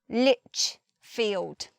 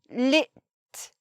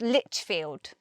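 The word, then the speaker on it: Lichfield: IPA and read properly Lich field there's no it's not lipped there's no T there by itself it's Litchfield moving on to Paul suffix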